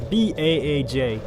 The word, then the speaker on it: Baaj: Baaj is B-A-A-J. Which I'm going to go ahead and pronounce as Baaj.